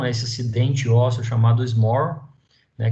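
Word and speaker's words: Schmorl: esse acidente ósseo chamado SMOR, né, que se escreve dessa forma, mas tem essa pronúncia, né, SMOR, que é basicamente uma hérnia discal para baixo, né?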